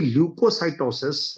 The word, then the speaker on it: leukocytosis: Now spelling क्या है सर? यस, LEUKOCYTOSIS, ल्यूकोसाइटोसिस। सो हम ये कह सकते हैं कि ल्यूकोसाइटोसिस refers to an increase in the number of white blood cells.